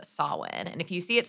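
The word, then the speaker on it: Samhain: actually originates in a Celtic spiritual tradition called solid and if you see it spelled out it's Sam Hein so but it is pronounced solid and it's celebrated from October 31st to November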